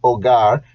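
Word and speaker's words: hogar: spanish for unit five el ogar remember silent h the home we have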